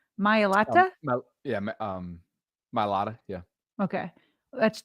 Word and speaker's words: Mailata: Mailata, yeah.